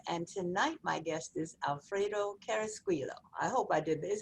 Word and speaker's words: Alfredo Carrasquillo: i'm laurie lawson and tonight my guest is alfredo carrasquillo i hope i did is that your is